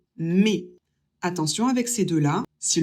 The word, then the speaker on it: mes: Pour le possessif pluriel, prononcez le ES et mes.